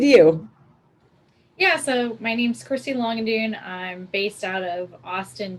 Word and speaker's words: Christy Langendoen: of them to introduce themselves so i don't mispronounce anything and uh christy let's start with you yeah so my name's christy longandune i'm based out of austin texas and in